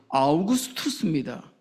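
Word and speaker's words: Augustus: 아구스도는 아우구스투스입니다. 어 한글이 참 좋지요. 우리는 모든 언어를 다 발음할 수 있습니다.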